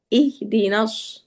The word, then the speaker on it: اهدنا: হ্যাঁ যশোর উচ্চারণ গুলি ইহদিনাস। হ্যাঁ اهدنا ইহ হ্যাঁ এটা গলার ভিতরে যাবে না।